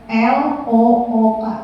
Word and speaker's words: look: yang o-nya dua misalnya misalnya kayak l o o k bacanya look ya betul kalau c o o k bnya tu tapi kalau d o o r bnya door jadi beda ya itu bilangnya itu bahasa Inggris itu tidak konsisten jadi P itu inkonsistensi